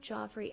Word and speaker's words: Joffre: Other lots on Joffrey Avenue have been developed with residences, but are accessed via Folk Avenue.